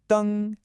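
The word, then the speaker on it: 登: The character for this amazing action is dēng, pronounced dēng. That's a nice high flat tone.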